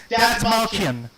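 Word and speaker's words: Dastmalchian: by a gentleman by the name of David Datsmalkian. I believe this is how you pronounce the name.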